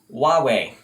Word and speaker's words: Huawei: a really easy one huawei that's it wah like a baby and way like a direction huawei that's it huawei